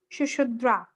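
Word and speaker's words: Sushruta: Ma'am, Yes, ma'am, can you please pronounce the doctor name? which name? Doctor name. Shushudra.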